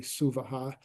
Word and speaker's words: Svaha: And the Suvaha is, you see Svaha there, but it's actually Suvaha, because that's how you say it to make it sound kind of a little bit nicer.